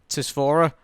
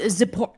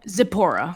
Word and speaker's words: Zipporah: You're gonna have to help me pronounce this name, Tisphora. Oh, Zipporah. Zipporah.